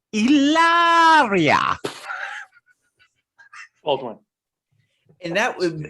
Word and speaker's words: Hilaria: her name is supposedly hilaria right which is not a real name but what we are told what i've learned is it's supposed to be pronounced illaria old one and that